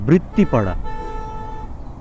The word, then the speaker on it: বৃত্তিপাড়া: ও, এতক্ষণ ভুল উচ্চারণ করতেছিলাম, এটা হচ্ছে বৃত্তিপাড়া।